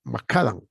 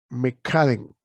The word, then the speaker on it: macadam: Macadam, ¿no? O bueno, se pronuncia McCadden, ¿no? Pero nosotros macadam, le decimos, ¿no?